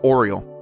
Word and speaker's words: Oriole: It's pronounced the Oriole, I believe. Not the Aurelie, the Aurelie is that gag character that Toriyama made that's stronger than Goku and Vegeta.